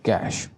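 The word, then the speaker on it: cache: कैश sounds like कैश। कैश की तरह sound हो रहा है ये। इसको बोला ऐसे ही ज्यादा प्रोनाउंसिएशन है इसकी। ऐसे ही है कैश।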